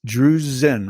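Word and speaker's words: drusen: you spell it and it's it's drew's zen right with a z sound that's right cool jerusalem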